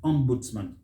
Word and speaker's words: ombudsman: again and the words ombudsman ombudsman or ombudsman for the american ambulance man stress is on that first syllable don't say on boots